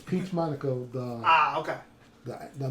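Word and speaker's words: Peach Momoko: it's a new series Peach M mono excuse the name pronunciation of it it's Peach Monaco the ah okay the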